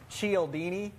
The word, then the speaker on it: Cialdini: My core of everything is based off of Influence by Robert Cialdini.